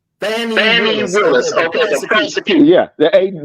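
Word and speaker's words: Fani Willis: Pronounce it again. Fannie Willis. Fannie Willis.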